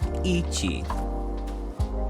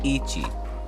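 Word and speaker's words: 一 (ichi): let's start at one shall we one is pronounced Ichi Ichi two is pronounced knee knee three is pronounced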